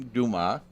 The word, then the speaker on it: Dumas: And we have in the studio with us Dumas.